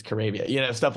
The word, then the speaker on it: Caribbean: is actually had written out like this is pronounced like Arabia it's not carabia it's Caribbean you know stuff like that so it was